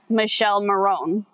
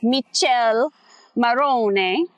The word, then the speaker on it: Michele Morrone: you look at it, it looks like his name is Michele Morrone. Okay? No, it's Michele Morrone.